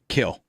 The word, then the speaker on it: Kiln: i grew up in kiln kill it the m is i think the m is silent i think it looks